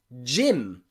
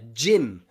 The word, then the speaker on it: gym: G plus Y follows the same rule, which means normally it's pronounced J. Often J, okay, like in gyro, gyro, gyro, okay? Or you might go to do some exercise in a gym, gym, okay? The pronunciation of the Y changes to I there, gym, gym. But the G, as you can hear, is a J, gym, gym, gym, and gyro.